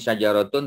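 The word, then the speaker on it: شجرات: So the pronunciation is syajaratun. Dengar, syajaratun. Syajara panjanglah sebab ada alif.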